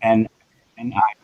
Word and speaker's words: Niall: Neil is spelled N-I-A-L-L. Niall.